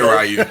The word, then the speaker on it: Ryu: Yeah, you say Ryu. It's just Say simple as Ryu. that. Is Ryu Hayabusa? Ryu from Street Fighter or whatever his name is? If you watch anime, they Ryu. That's how they say it.